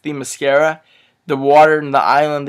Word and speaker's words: Themyscira: Additionally, the cinematography, I found it to be beautiful, especially the scenes on, I think it's pronounced Themyscira.